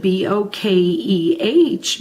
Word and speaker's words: bokeh: You can see that it's spelled B-O-K-E-H, but it's pronounced bokeh, like a bouquet of flowers.